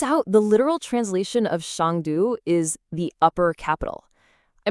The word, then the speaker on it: 上都: That's pronounced Shangdu.